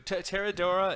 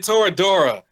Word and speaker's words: Toradora: Teradora and Nichachuchu? It's Nijijo and Toradora.